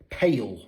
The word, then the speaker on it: pale: Et on applique la même règle de prononciation pour les mots en ALE. C'est-à-dire que même s'ils s'écrivent différemment, la prononciation est la même. Comme avec ce mot-ci qui signifie une vente. Sale, ou ce mot-ci qui signifie pâle, pale.